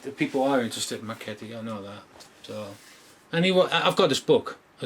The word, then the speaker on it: Marchetti: You're pronouncing it correctly too. It's Marchetti.